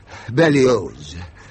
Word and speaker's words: Berlioz: Hector Berlioz. The Z is pronounced.